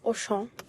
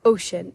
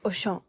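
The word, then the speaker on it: Auchan: the parking lot of oan which is that's how you say it in French because my sister's boyfriend informed me that it's not ocean it's oan it's basically just a grocery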